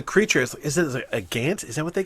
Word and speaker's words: haint: But somebody refers to the creature as, is it a gant? Is that what they call it? It's a haint. A haint. It's the word ain't with an H in front. Which is apparently H-A-I-N-T.